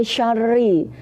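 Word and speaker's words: شَرِّ: Nah ini syarri, rinya itu tipis. Lah kalau membedakan tebal sama tipis caranya bagaimana? Kalau tebal itu membacanya agak mencucu, kalau pas tipis itu bibirnya agak ditarik ini.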